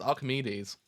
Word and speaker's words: Archimedes: do you how how you spell that man Archimedes Archimedes oh that's how you do it it's Archimedes it's Archimedes I thought it spelled aredes spot